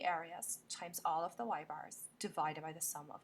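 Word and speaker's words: ȳ: going to freak out it's Y Bar which is how we pronounce that y with a dash over it and we use that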